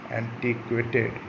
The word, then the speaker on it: antiquated: तो सही स्पेलिंग क्या है, ए वाला सही है, ANTIQUATED, एंटीक्वेटेड, एंटीक्वेट।